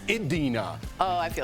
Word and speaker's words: Idina: Coming up on DBL, our interview with Adina Menzel. I didn't even do that on purpose. I was trying to say it right. I was just going to go with Idina, and everyone's like, it's Idina.